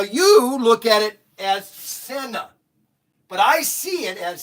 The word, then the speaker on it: Senna: This is the, now it's pronounced Senna, not Sienna, not Sienna, but Senna. Senna set.